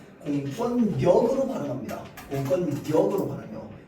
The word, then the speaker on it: 공권력: 공권력 그렇게 발음할까요? 공권력으로 발응합니다.